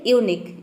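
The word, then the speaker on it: unique: है वो है कि जब किसी वर्ड के अंत में क्यू यू ई एक साथ हो तो इसे हम क्या प्रोनाउंस करेंगे, क प्रोनाउंस करेंगे। तीनों लेटर को मिलाकर क्यू यू और ई, किसी भी वर्ड के अंत में तीनों लेटर में आ जाता है एक साथ तीनों लेटर, तो इन तीनों लेटर को मिलाकर हम एक लेटर प्रोनाउंस करते हैं, क्या, क।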